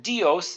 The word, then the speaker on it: Dios: Amore de and then dios is actually two syllables combined together D E and O so you've got the letter D so you would pronounce that d e and then o as in host or most so we'd say dios and we'd put that